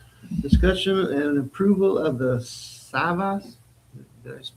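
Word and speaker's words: Savvas: Discussion and approval of the SAVAS. Did I pronounce that right? SAVAS?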